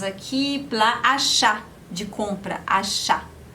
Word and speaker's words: achat: Temos aqui plat achat, de compra, achat. Mesma coisa, você tem o T no final, mas esse T não se pronuncia.